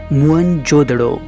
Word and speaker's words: मोहनजोदड़ो: हुआ है है मोहनजोदड़ों शब्द का सही उच्चारण है मोहनजोदड़ों और सिंधी भाषा में इसका